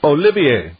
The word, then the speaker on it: Olivier: So Olivier. Yep. Oh, but spelled like Oliver.